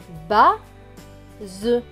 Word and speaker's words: base: Le S est entre deux voyelles, le A et le E. Donc, il va se prononcer Z.